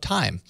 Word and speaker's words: Thyme: for good modern kitchen timers in the Play Store sadly but I did find one that does things a bit different from the rest time spelled like the spice kitchen timer recognizes that